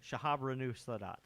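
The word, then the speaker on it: Shahrbanoo Sadat: Shahabranu Sadat. That was a good pronunciation there.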